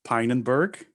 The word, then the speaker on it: Pinenberg: having me uh so my last name is pronounced pinenberg it's not that hard once you know it uh when you read it it's almost impossible to decipher it so i'm a devops